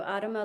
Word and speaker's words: Adama: And I hope I'm not pronouncing this wrong, but Adama, is that right? Yeah, it's Hebrew, Adama Life Memorial.